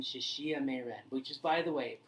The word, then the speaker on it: Shexie Meiren: It's actually, you have to understand Chinese pinyin to understand that XI makes a she sound.